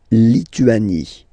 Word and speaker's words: Lituanie: La Lituanie. Remember in French, sorry, H doesn't exist, okay, so you don't pronounce it, and it's Lituanie, la Lituanie.